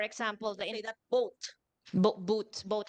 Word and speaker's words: Boot: Germany so for example the that boat Bo boot boat how do we pronounce it boot International boot dorf Please spell